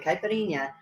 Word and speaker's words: caipirinha: actually pronouncing that right I do know I'm pronouncing kashasa right and caipirinha um but it is not wrong you're probably